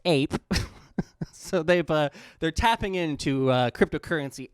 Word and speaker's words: AIP: We've created the Ads Incentive Program, or AIP, pronounced APE.